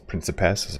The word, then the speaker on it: principes: the into the prickapas principess of how I pronounce it Church Latin as it were to